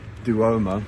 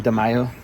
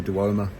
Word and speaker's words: Duomo: I might also show you a clip of the Duomo. Is that how it's said? Duomo. I've been saying De Mayo for the whole vlog.